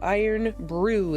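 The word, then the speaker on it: Irn-Bru: I am brew. Iron brew. That is how you pronounce it.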